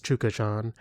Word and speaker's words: Chukhadzhian: I I saw one interview where they said, "Chukhadzhian, how do you pronounce your last name?" The guy says, "Chukazhan."